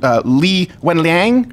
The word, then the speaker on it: Li Wenliang: Am I pronouncing this right? Dr. Li Wenliang.